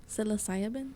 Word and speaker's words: psilocybin: Some trippy mushrooms, some psilocybin. How do you What's say the it? strain? How do you say it? Psilocybin?